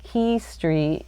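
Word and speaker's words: Quay Street: And the it's pronounced Key Street even though it's spelled qu A Y.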